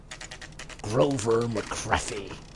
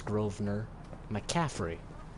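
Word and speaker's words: Grover McCaffrey: you shut your trap Grover mccy okay his name is groer mcaffrey I mispronounced that horribly let's see yes yes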